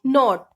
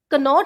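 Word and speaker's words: know: इन सब में हम देख रहे हैं कि के बाद एन आ रहा है तो इसमें हम के की आवाज नहीं लेंगे, इसको हम सीधे बोलेंगे नॉट। कनॉट नहीं बोलेंगे, नॉट, NOT, नॉट।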